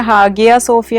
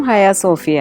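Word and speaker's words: Ayasofya: ഈ ഹയാസോഫിയ എന്ന് പറഞ്ഞാൽ ഹാഗിയ സോഫിയ എന്നാണ് നമ്മൾ പുറത്തൊക്കെ പറയുന്നത് പക്ഷേ അതിൻറെ ടർക്കിഷ് ഉച്ചാരണം ഹയാസോഫിയ ആണ് അപ്പൊ ഹയാസോഫിയയും ബ്ലൂ മോസ്കും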